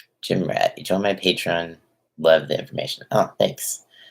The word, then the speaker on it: Patreon: rat eat on my patreon love the information oh thanks I appreciate it also I always butcher the word patreon I like why I read patron that's why I said paid yeah patreon anyone